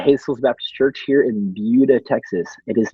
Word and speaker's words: Buda: Baptist Church here in Buda, Texas. It is not Buda, all of you Illinois people. I'm just kidding. I'm from Illinois. I know that it's not pronounced with an S.